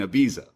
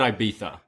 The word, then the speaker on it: Ibiza: But then, I've always said Ibiza. yeah, I feel like North Americans call it Ibiza, but the true meaning is Ibiza as he schools her on it.